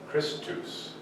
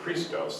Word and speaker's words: Christos: the controversy that he cited was some character named Christus, which is a mispronunciation of Christos, the anointed one.